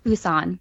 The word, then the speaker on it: Busan: gonna be producing a remake of train to Busan is how you pronounce it Busan Busan and this is from the none writer